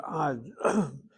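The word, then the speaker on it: עַד: The word ad, spelled with a patach hanit ayin. If the word were spelled without vowels, the ayin dalet can spell another word, aid. Aid is the Hebrew word for witness. Ad is until, and aid is a witness.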